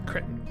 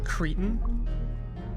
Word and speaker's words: cretin: Now that your wretch is in range, attack the cretin that stands in your way. It's pronounced cretin. If you're going to insult me, at least to do it right.